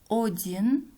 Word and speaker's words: один: Пишем «один», произносим «один». «Однажды», «однажды». «Ответить», «ответить». «Опора», «опора». Запомните, в начале слова безударное гласное «о» произносится как «а».